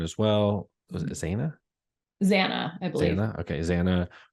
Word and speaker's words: Xana: Xana, I believe.